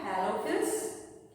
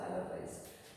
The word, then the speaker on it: halophiles: Halophils, thermoacidophils and methanogens. Let's see. Halophils. Halophils or halophiles, you can pronounce halophils or halophiles.